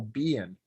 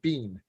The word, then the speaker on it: Biehn: think it was michael bien but you know it's just a short bean um but i think